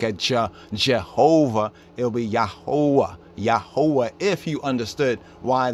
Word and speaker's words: Jehovah: jehovah you remember that in german the j sound is pronounced as a y sound and the v sound in german is pronounced as a w sound so even we look